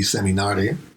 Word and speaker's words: seminare: That pronounced that would be seminare. Seminare. But yeah. But not like a seminar, which is just mine seeds.